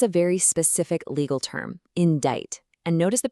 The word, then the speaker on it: indict: Now, this one is a very specific legal term, indict. And notice the pronunciation. That C is totally silent. It sounds like indict.